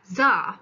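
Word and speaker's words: Xar: Czar, pronounced Czar, I don't know why, spelling is weird, was a wild young human boy who belonged to the wizard tribe.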